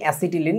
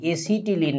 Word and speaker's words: অ্যাসিটিলিন: এটার আরেকটা নাম কি অ্যাসিটিলিন এটাকে তোমাদের বইতে লেখে এসিটিলিন না অশিক্ষিত টি এসি কি লিখলাম আল্লাহ জানে দিয়ে উচ্চারণ অ্যাসিটিলিন ঠিক আছে বানানটা এরকম হবে